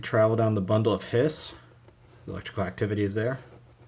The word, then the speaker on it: His: down the bundle of hiss the electrical activity is there to the bundle hiss spelled his but pronounced hiss like a cat hissing then we go to